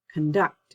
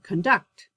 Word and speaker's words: conduct: the same syllable stress if the word is a noun the stress is on the first syllable like conduct conduct rather conduct but if it's my verb i would say conduct conflict conflict contract contract